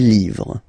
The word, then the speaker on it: livres: and then same rule, you just write livre, and then you put S at the end, but then you don't pronounce it. Les livres, le livre, les livres.